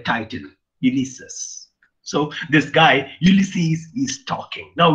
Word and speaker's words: Ulysses: by alpha tennison uh some people may pronounce this as elise's that's that's okay and then i mean we can pronounce in whatever way we can be but actually in greece i think they pronounce it as ulysses uh it literally profits